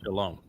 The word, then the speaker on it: Shalom: And the O sound in Shalom, where does that come from? It's from the Wah. O-W. Wah. It's the Wah. Yeah, the Wah in Hebrew is pronounced either as a O or U. And the overwhelming percentage of the time, about 90% of the time, it's pronounced as O, as in Shalom.